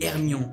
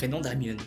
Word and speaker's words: Hermione: Il ne cessait de l’appeler « Herrrrmion ». – Her-mio-ne, dit-elle en articulant lentement et distinctement.